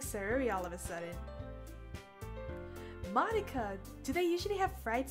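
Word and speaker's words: Monika: it really iike huh that's not how you say my name at all so Monica it's not Monica it's Monica also that job means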